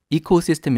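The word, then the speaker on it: ecosystem: 생태계를 2코스 시스템이라고 얘기하죠 발음 하실 때에 코가 아니라 이코 라고 발음하도록 좀 주의하시고요 그래서 이코 시스템 이라고 하면 생태계 를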